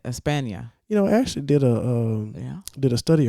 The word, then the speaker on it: España: España. That's how you say it. España.